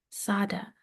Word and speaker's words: Tsade: Sada. That's how you pronounce it. Tsade.